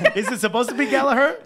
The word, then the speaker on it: Gallagher: Pronounced that way. Is it supposed to be Gallagher? Gallagher.